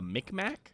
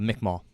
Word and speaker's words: Mi'kmaq: The Micmac? The Mi'kmaq. I'm sorry. I Mi'kmaq? mispronounced that. Yeah, Mi'kmaq. Okay.